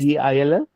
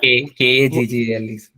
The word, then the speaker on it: Kaggle: Kagil. Sorry, sir. Kaggle. K. Oh, spell it again.